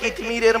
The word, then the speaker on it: কিতমির: কিন্তু আমাদের জ্ঞান হয়ে গেছে কিতমিরের মতো। কি বললাম? কি বললাম? কিতমির। কি বললাম বলুন? কিতমির বলুন, উচ্চারণটা করুন। কিতমির। কয় হস্যই ত মো ময় দীর্ঘই র।